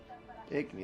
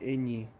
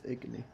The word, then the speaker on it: Igni: Igni, that's how you say it. I always forget how you pronounce it. I always call it like Igni. It's Igni.